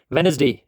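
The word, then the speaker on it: Wednesday: वेनसडे, वेनसडे प्यारे बच्चों, यहाँ पे अगर हम देखेंगे कौन सा, डी, वेनस, यहाँ पे ये डी जो है क्या रहता है प्यारे बच्चों? साइलेंट रहते हैं।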